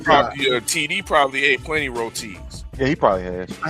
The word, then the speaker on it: roti: And I heard KG pronounce roti, rote.